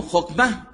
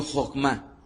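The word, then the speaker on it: חכמה: sabiduría en el hebreo es el sustantivo femenino Jokma. Repitan conmigo Jokma. J-O-J-M-A. y aunque algunas veces en la transliteración de habla inglesa le ponen K, a final de cuentas, la palabra es Jogma, tal cual se pronuncia, se escucha fonéticamente ahorita al español.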